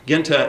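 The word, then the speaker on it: Guinta: I my name is I'm Italian American so I pronounce it the old style Genta and bass uh voted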